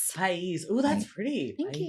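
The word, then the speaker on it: Páez: It'd be like paez. P-A-A-E-Z. It's país. Pais.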